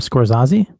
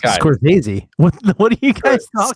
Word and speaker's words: Scorsese: I like Martin Scorsese did you just say his name scores Ozzie Scorsese Scorsese it's good its cults it said squares easy it's not it's Scorsese was easy I know